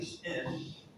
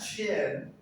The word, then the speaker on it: shin: Shin, not chin, not sin, but shin. Yes, shin. Get that mouth movement, air pressure. Shin.